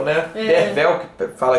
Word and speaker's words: Derfel: lá que era o derfel né derfel que fala que se pronuncia como V no primeiro parágrafo ele